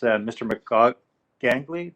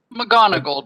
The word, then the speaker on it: McGonagall: it is um is mr macaque gangly did i say it right mr gongle or how do you say your name sorry mcgonagall just like harry potter professor mcgonagall yeah just as you